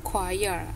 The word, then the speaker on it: choir: No, choir. Hati-hati, ada bahasa Inggris yang cara bacanya beda dengan cara tulis.